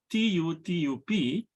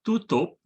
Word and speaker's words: tutup: Similarly, the word spelled T-U-T-U-P is pronounced tutup in Sebutan Johor Riau, but tutup in Sebutan Baku.